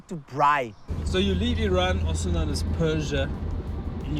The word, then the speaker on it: Iran: And he's from Iran, or as the Americans say, Iran.